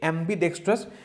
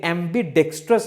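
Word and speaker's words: ambidextrous: उसको हम लोग बोलेंगे एम्बीडेक्स्ट्रस। ये आपका एडजेक्टिव हो जाएगा, ठीक है। इसका आप स्पेलिंग को नोट कीजिएगा, एम्बीडेक्स्ट्रस है ये, एम्बीडेक्स्टरस नहीं है, ठीक है।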